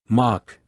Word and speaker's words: Mock: Mock as in Mach 5. No, it's spelled with an O.